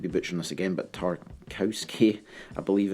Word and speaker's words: Tarkowski: james i might be butchering this again but tarkowski i believe it's pronounced the set english center back um top